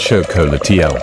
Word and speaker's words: xocolatl: This bitter, frothy drink was called xocolatl, pronounced show-co-la-tee-al, which is where the word chocolate comes from.